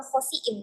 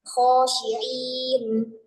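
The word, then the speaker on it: خاسئين: Akan tapi karena makharijul hurufnya belum ada dia bacanya bukan khasiin, tapi khasyiin.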